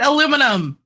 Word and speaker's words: aluminum: Literally, the guy that founded it called it aluminum. Look. Get over yourselves. The reason why we have a fundamental difference as to how it's pronounced is because we spell it differently as well.